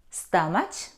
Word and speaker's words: stomach: chemistry Saito stomach no though we see the combination C and H we don't pronounce here in these words we pronounce them psycho psychologist psychology stomach chemistry we don't pronounce we pronounce k psycho is a person